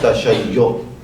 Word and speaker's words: تشیع: میں شیعہ کہتے ہیں۔ اردو میں بالعموم اسے ہم غلطی سے بعض لوگ پڑھتے ہیں تشیع، تو اس کا تلفظ درست ہونا چاہیے تشیع، تشیع۔ تفضیل، افضل ہونا، برتر ہونا.